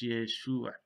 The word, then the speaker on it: Yeshua: And you can see that it uses Yeshua. It doesn't use Yehoshua because the name had come to be pronounced as Yeshua.